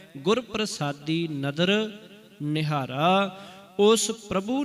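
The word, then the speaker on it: ਪਰਸਾਦਿ: गुर प्रसादी नदर निहारा इथे न शब्द पूरा लिख्या है परसादी ते जी रारा पैर च ं ते इदा उच्चारण प्रसादी हो जाना सी सर्ब जिया को इथे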